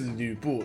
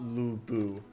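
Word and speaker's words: 呂布: This is Lü Bu, not Lu Bu.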